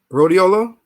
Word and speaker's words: Rhodiola: I'm trying to remember how you pronounce this. Ro, rhodiola, Rhodiola?